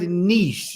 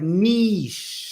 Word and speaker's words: niche: it's not like this it's not Niche that's a different thing it really is like Nish are you sure are you sure Nish Nish nich I think I'm not